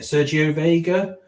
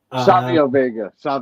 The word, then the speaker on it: Savio Vega: Sergio Vega. Savio Vega.